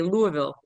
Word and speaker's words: Louisville: But we've got West Virginia, Kentucky, and the pronunciation of the capital is Louisville. Looks like Louisville, but we say Louisville.